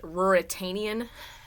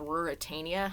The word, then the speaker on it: Ruritania: is about this country called ruritania I guess it's pronounced that the main gist is